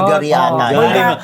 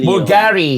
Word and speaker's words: Bulgari: Bulgariana. Anong pronunciation? Bulgari.